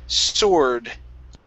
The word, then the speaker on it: sword: The word is sword. Sword. Okay, sword. Make sure to pronounce an S sound. You're saying sword. Okay, instead of sword, it's s-or, sore, sword. Sure.